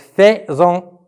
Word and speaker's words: faisons: Nous faisons à la fin ONS, mais faites attention comment ça s'écrit faisons. C'est F-A-I-S-O-N-S, donc faisons, mais on la lit faisons.